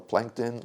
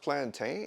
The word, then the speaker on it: plantain: a potato or a plankton like if I want to taste a potato or Plankton I'm going to use a potato or Plankton hey ain't that pronounced plantain shut up why you